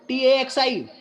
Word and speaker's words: taxi: Just like if you talk about if you read this word TAXI, there is a vowel letter after X, but it is being pronounced as taxi.